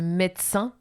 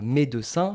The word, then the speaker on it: médecin: d'un mot comme ça, entre deux consonnes, médecin, c'est entre le D et le C, donc deux consonnes. Voilà, on mange le E.